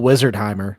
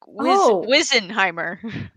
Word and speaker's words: Wizenheimer: Yeah, I seriously thought it was still Wizardheimer. Like at one point, like he says his name, and I'm like, did he just say it wrong? Like what? Did they just? Yeah, I could remember because it's wheezing like a wheeze. Like no, it's supposed to be like does. wizard, like Wizenheimer. Okay, so like wizard, but